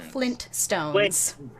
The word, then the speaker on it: Flintstones: going in the notes is it flynn stones or flint stone flintstones no one pronounces the t fuck out of here